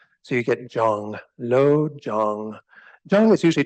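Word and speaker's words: སྦྱོང: a moment and then the second character is a sa with a ba underneath it as a subscript and then a yah which is giving it uh kind of this J sound J and then the again the same o sound that's at the top and then that's with a suffix of a song sound so you get Jong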